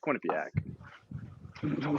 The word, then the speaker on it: Quinnipiac: __ ] would it how do you say it say it quinnipiac you're like it's like quinnip yeah it's a quinnipiac shut the